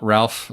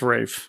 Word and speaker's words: Ralph: We've got Ralph Fiennes back as M. Or Rafe. Is it Rafe? It's Rafe.